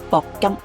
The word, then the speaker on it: 鉑金: 第二種嘅係鉑金 Platinum，正確讀音係鉑金，不過好多珠寶行